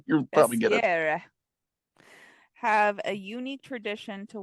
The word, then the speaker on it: Bessières: God, don't make me, Bessieres. I was gonna say just don't pronounce any of the consonants. Like at the end of the words. You'll probably get it. Bessières have a unique tradition to welcome spring.